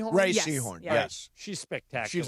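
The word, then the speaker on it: Rhea Seehorn: Is it pronounced Ray Seahhorn? Ray Seahhorn.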